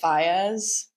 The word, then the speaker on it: Faiyaz: Brent Faiyaz.